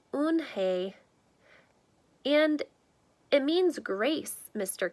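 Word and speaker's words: Unhei: Kim then turned to Joey she nodded slowly yes it's pronounced own Hey and it means grace mr.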